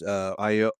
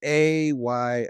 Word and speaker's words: Ayo: Well, yeah, you have Rhodes, Aoi, Aoi, Black Oye, Panther. Oye? Oh, I can't pronounce her name. They. It's AYO.